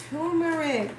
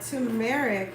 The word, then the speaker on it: turmeric: Curcumin is turmeric, or turmeric as some people may pronounce it.